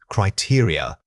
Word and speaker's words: criteria: Many speakers struggle with the final unstressed vowels. Remember that this word has an important stress pattern starting on the second syllable. It is not a single stressed unit. It's built around three smaller vowel sounds.